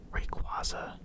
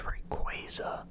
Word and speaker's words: Rayquaza: I know that Pokemon recently came out and said that the proper way to say it is Rayquaza, but it just doesn't sound right, and I'm pretty sure in the anime they said Rayquaza.